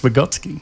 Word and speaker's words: Vygotsky: a background in education, I know it's pronounced Vygotsky.